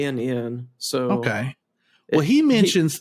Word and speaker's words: Guinn: It's Guinn. So okay. Well, he mentions that might pronounce it Gunn, but it's spelled Gwyn.